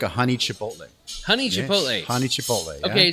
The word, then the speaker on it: chipotle: we were talking about chipotles right and he's like oh no you're saying it wrong and i'm like oh that's how you say it in spanish and he's like no no it's chipotle and i'm like did